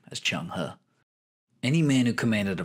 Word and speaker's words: Zheng He: the sake of the video we're going to pronounce his name as chung huh any man who commanded a fleet so massive